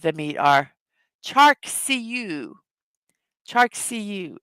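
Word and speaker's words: charcuterie: Chark CU is the approximate pronunciation.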